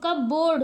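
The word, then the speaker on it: cupboard: यहां पे दिया हुआ कबर्ड में आपका क्या है पी साइलेंट है क्या बोलते हैं कबर्ड पी को छोड़ देते हैं ऐसे अगर पढ़े तो कब क बोर्ड होगा है ना कप लेकिन हम इसको क्या बोलते हैं कबर्ड क ब पी हमारा क्या हो जाता है साइलेंट हो जाता है तो इसी तरीके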